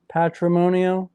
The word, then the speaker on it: Patrimonio: before we went on it's like matrimony patrimonio matrimony and it means Heritage